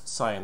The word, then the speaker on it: Saiyan: Yes, Saiyan, that's his actual pronunciation.